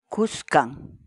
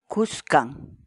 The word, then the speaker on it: kuskan: de vídeos en la que te enseñamos a pronunciar algunas palabras en quechua así que nuestra palabra del día por hoy es buscan buscan buscan la palabra quechua es khan en español